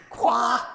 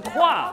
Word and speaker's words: 跨: 垮。垮垮，不是垮，是跨跨跨过。